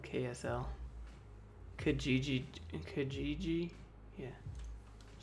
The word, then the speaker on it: Kijiji: Canadian website, a Kijiji? What is that? I've never even been to a Kijiji. Buy and sell and save. It looks like KSL. Utah has its own Craigslist called KSL. Kijiji.